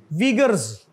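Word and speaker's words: Uyghur: वीगर्स, वीगर, वीगर, at least in English it should be pronounced as वीगर।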